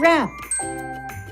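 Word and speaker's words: wrap: The last silent letter we will look at today is the silent W, like in answer and rap.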